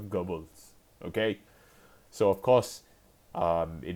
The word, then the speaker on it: Goebbels: his name is okay I don't know the German pronunciation but it is not gobbles it he does not gobble his food is Joseph Goebbels okay so of course